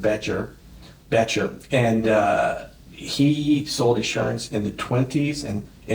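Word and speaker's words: Bettger: And the book is called How I Raised Myself from Failure to Success by a guy named Bedker. Okay. He sort of pronounces it Betcher.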